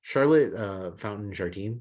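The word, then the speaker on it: Charlotte Fountain-Jardine: But Charlotte Fountain Jardine, is I believe how you pronounce her name.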